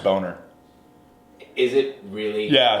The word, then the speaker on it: Bomer: It's pronounced Boner.